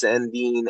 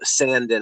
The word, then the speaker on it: Sandin: I like the first round pick of Rasmus Sandin or Sandin. I've heard it pronounced both ways.